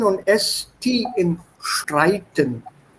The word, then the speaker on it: Streiten: And a couple of small things, like I said, SP im Sprechen und ST im Streiten. They are pronounced with an sh sound.